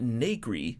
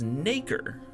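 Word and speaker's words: nacre: Also, uh I learned that I've been pronouncing this word wrong the entire game. This is not ny, it's naker.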